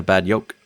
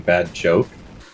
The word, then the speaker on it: Bad Yolk: So the way that Swedish people pronounce their J's sounds like a Y. So at the end of the day, we're just a Bad Yolk.